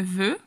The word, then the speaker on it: veut: Personne ne veut, ou la E ou la U, la E y la U se pronuncia E.